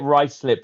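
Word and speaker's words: Ruislip: Greenwich as well, like Or you get rice slip, which is spelt Rui slip.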